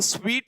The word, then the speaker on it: suite: का सेट होता है, SUITE को स्वीट बोला जाता है।